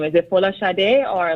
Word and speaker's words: Folasade: Is it Folasade or like how do you pronounce it?